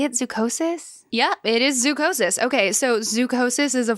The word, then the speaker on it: zoochosis: Yeah, it is zoochosis.